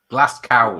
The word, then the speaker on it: Glasgow: Glasgow, it's pronounced.